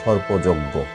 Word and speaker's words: সর্পযজ্ঞ: একইভাবে সর্পযজ্ঞ, এখানে জয়ের সাথে একটু আছে, এখানে জয়ও আছে, এই জন্য অটা ও এর মতো উচ্চারণ হয়েছে।